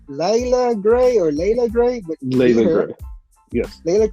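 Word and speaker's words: Leila Grey: It's called it's pronounced Layla Gray, but Layla Gray.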